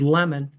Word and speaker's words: Lamon: Ward Layman, although I've been told that the pronunciation of Lamon at that time with Ward Layman was lemon.